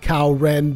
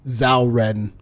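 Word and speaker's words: Cao Ren: probably read Kao Ren, but in Japanese, it is actually pronounced Zhao Ren. They say Zhao Ren. At least I think they say Zhao Ren. It's not like a Z, but it's almost like Z.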